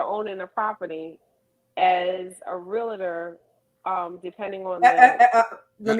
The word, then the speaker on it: realtor: chalkboard for me girl it is real tour realtor real tall not real love her that's the one education look really let's not pronounce it real tour yes yes real quick